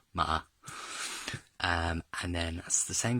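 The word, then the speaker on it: 吗: So that's where the meaning comes from, and the pronunciation comes from the horse character, ma.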